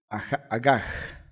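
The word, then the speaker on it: הגה: La palabra meditar en hebreo se pronuncia agaj.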